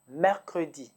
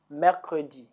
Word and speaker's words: mercredi: Wednesday is Mercredi. Mercredi.